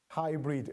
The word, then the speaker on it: Haibrid: Hybrid, as in how we Yes. pronounce it.